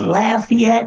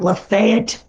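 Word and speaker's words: Lafayette: Bowl yes it's in lafette and it is pronounced lafette not lafat or the fight and duck d lisana attack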